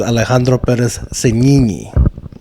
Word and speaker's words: Alejandro Perez-Signini: We've just gone too hard, too fast with Alejandro Perez-Signini.